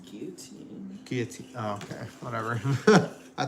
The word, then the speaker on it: guillotine: French pronunciation is guillotine.